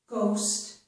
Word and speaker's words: ghost: This is the word ghost. And here GH makes the G sound.